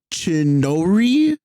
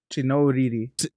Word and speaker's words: Chinouriri: other song is Never Need Me by Rachel Chinoriri. I don't really know how to say her last name, but it's Rachel. And then the last name is CHINOURIRI. It's double R-I-R-I. Chinoriri.